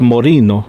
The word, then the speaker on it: Moreno: Yeah, if you guys follow the channel, you know this is Moreno, that's how you say his name. It's Moreno.